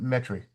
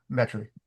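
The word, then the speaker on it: Metairie: But the but everybody down here that lives there calls it metric. Right. M T R Y. Metric. But is Metaryi the correct way to say it?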